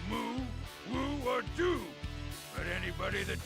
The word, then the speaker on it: Wu: Imagine that line with the Dynasty Warriors 9 pronunciation of Wu. It would be where you don't say the first consonant, so it's just ooh, ooh, or ooh.